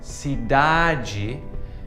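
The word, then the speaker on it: cidade: imagine with the pronunciation the e on the end is pronounced like the letter E and the D before that is pronounced like the letter J so it's like G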